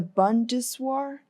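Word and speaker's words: Bundeswehr: chief of germany's army the bundeswah that's how you pronounce it bundeswah said that the army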